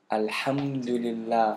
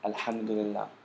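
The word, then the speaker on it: الحمد لله: So alham, the first syllable. Du, the second. And then lillah, the third. With a ha on the end.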